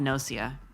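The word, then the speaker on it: Gnosia: Uh, it's called Nosia. It's spelled G N O S I A.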